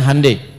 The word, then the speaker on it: Hyundai: Ya Hyundai saya tahu bahasanya dibacanya Hyundai.